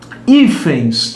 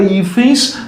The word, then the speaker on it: hífens: Porque a palavra hífens é uma palavra paroxítona, porque a sílaba tônica está aqui e termina como? Termina em ENS. Isto é, coincide com a regra de quem? Das oxítonas. Se coincide com a regra das oxítonas, a palavra não pode ser acentuada, porque a sílaba tônica dela é a penúltima.